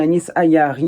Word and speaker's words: Anis Ayari: Son vrai nom, c'est Anis Ayari, ça se prononce bien comme ça.